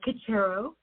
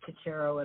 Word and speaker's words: Cocharo: Uh, Coachero. I think you were doing a pretty good job. It's one of those Ellis Island butchered names from Italy that didn't start like Caterero at all, but we've landed on Caterero.